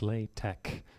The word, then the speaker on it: LaTeX: how you pronounce it it looks like the word latex but it's lay tech like technology I'm not entirely sure